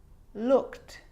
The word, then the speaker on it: looked: examples he she we it can also be silent at the end of past tense regular verbs which all end in E D right but they're not always pronounced like it is in wanted so you can hear the e d sound there and I'd want Ted it's it's own syllable but a lot of the time that e isn't pronounced looked asked played baked rapped now they could be a